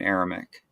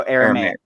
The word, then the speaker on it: Aramaic: Some very, very few parts of Old Testament are originally in Aramaic. No, Aramaic.